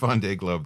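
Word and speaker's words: Vendée Globe: to participate in the first how do you pronounce it vond V Club yeah V Globe thank you um I wasn't going to say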